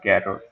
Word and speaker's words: char: v i l see care c h a r care you can pronounce it as chair also some people pronounce it chair so I I pronounce it as carot okay so here let's